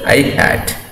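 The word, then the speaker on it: î: ax I cap or I hat, that is pronounced as I hat.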